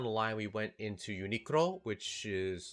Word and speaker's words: Uniqlo: I think in English they call it Uniqlo, but because it's you know it's a Japanese spin-off of the English word unique. But usually I pronounce it with the Japanese pronunciation, so it's like Uniqlo.